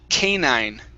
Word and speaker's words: canine: This word here is pronounced canine, canine.